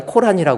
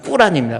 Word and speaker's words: 꾸란: 우리 말로는 코란이라고 그러는데 이슬람식 발음은 꾸란입니다.